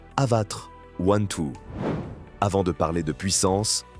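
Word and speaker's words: Avatr 12: On la prononce Avatar 1-2.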